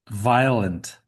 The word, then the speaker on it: violent: Violent. Violent. You you like you want to you you want to pronounce the the the V in that word like you're saying the name of the letter V.